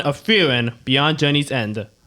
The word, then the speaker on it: Frieren: We are Mac, Quincy, Sister, Nate, and I'm Zip, and today we're talking about Season 1 of Frieren, Beyond Journey's End. I pronounced the name right.